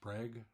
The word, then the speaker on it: Prague: Born in 1887 in Prague, Oklahoma, possibly pronounced Prague, the way we do things around here, Thorpe grew up in